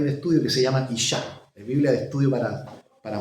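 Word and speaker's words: אשה: Le puso una A al final. Isha. ¿Cierto? Hombre, Ish. Mujer, Isha. Creo que hay una Biblia por ahí de estudio que se llama Isha.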